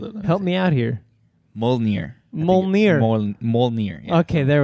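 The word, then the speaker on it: Mjölnir: But I just don't understand how she came to be called by Molgir. Is that how you pronounce the hammer name?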